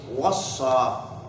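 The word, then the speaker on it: وصّى: But one which is wassa, which rhymes with fa'ala.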